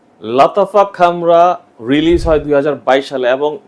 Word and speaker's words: Khamrah: পারফিউমটি নিয়ে রিভিউ করেছেন অনেকে অনেক ভাবে প্রোনাউন্সিয়েশন করে থাকেন অনেকে বলে লাতাফা ক্যামরা অনেকে বলে লাতাফা কামরা আবার আমরা বলছি লাতাফা খামরা প্রোনাউন্সিয়েশনে কি এসে যায়